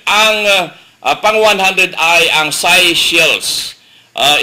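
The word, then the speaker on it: Seychelles: umabot sa 100 ang pang 100 ay ang si shells Uh spelling is ito country na si shells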